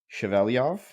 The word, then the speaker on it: Shevelyov: pleasure of having chaveliov here today um did I say your last name correctly well pronounced Thank You Blake I did my best